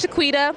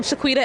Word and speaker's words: Shequeta: a kebab you know so my name is shaquita a lot of people don't know how to pronounce it so i added to the to the end of its own Facebook I'm shaquita some people can pronounce my name correctly